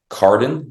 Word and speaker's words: Carden: to you, is Carden, CARDEN, at MariettaCommunity.church. So when you think of my last name, I always tell people, think of a car driving into a den, and you can't misspell it.